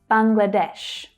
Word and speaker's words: Bangladesh: The main stress here in English is on the final syllable, but notice that the first syllable also has a stress as well. Bangladesh, Bangladesh. That middle syllable reduces down to the schwa, Bangladesh.